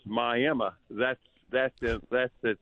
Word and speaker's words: Miami: It It's actually it's spelled like everybody down in in Florida call it Miami, but here in Oklahoma we we pronounce it as My Emma.